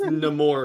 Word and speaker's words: Namor: wait what what about Nam more yeah it's pronounced namore according to the movie no I mean if